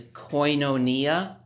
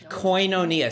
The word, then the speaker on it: koinonia: Koinonia, so it's spelled K-O-I-N, so coin but with a K, and then O-N-I-A, so koinonia. It's the Greek word, it's translated fellowship.